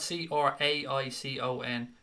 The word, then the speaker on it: Craicon: No, John, it's spelled Craicon. It's like Craig and Connor squished together.